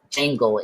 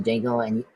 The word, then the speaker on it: Django: That's him in that scene where he's talking to Django, and he asks Django how to spell his name, and then after Django say the D is silent, and he say I know.